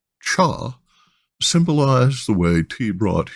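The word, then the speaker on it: 茶: two this written character which is pronounced as cha symbolized the way te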